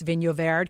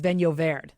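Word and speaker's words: Vinho Verde: how to properly pronounce vino verde because i was calling it i can't remember how i was calling it what was i calling it vino verde vino verde but it's venovaired there you go see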